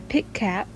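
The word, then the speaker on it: Pikat: As I said earlier that I was going to do for YouTubers that can help you is Pit Cat. I think that's how you pronounce them.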